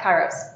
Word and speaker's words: kairos: But can you talk to me about the Greek notion of kairos? Sure. Am I pronouncing it right? Yeah, kairos.